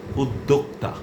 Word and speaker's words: উদ্যোক্তা: আপনাকে করতে হবে এক্ষেত্রে একটাই উচ্চারণ সেটা হচ্ছে উদ্যোক্তা।